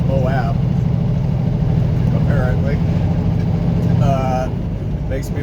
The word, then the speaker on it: Moab: i go through moab i pronounce that right moab not boab it's moab apparently uh it makes